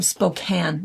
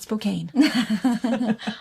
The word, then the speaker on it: Spokane: It's Gonzaga is how you say it. Gonzega from Spokane, not Spokane.